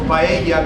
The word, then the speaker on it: paella: So paella guys is the Spanish pronunciation for the name of the food and paellera is the name of the pan, right?